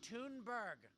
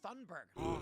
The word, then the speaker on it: Thunberg: First of all, it's pronounced Tunberg, guys. You heard her. Everyone always calls her Thunberg.